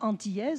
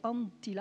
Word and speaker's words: Anttila: toujours très mal donc je ne suis pas antillaise c'est antilat avec de T mais c'est difficile pour